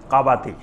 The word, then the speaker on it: কাবাতি: ওইটাকে এমনে কিপতি বলা হয়। কিন্তু মূল উচ্চারণ হলো কাবাতি। এক গ্রুপ হলো বানি ইসরাইল আরেক গ্রুপ হলো কাবাতি।